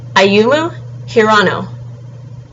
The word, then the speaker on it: Ayumu Hirano: So again, Ayumu Hirano.